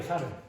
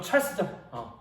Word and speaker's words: Charles: 샤를이에요. 샤를. 지금 불어 발음 잘 못하는데 영어식 발음으로 하면 찰스죠.